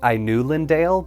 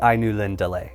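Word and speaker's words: Ainulindalë: saw the word I knew Lindellay, I initially pronounced it I knew Lindale because that sounded the most accurate to me, but after consulting the book, it is the I knew Lind delay.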